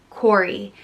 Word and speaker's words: Cory: means from the hollow it's pronounced cor e corey and it comes from